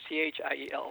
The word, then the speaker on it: Thiel: Yes, we've had people call up information to try to find me before, and they think it's because it's pronounced teal like the color. Right. So no one knows it's Thiel.